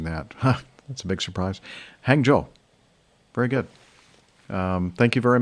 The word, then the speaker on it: Hangzhou: Hangzhou. Okay, so I've been mispronouncing that. That's a big surprise. Hangzhou.